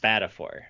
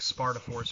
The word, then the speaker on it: Spadafore: pronounce that last name it's pronounced Spatafore man thank God I would have probably been like Sparta force or something really bad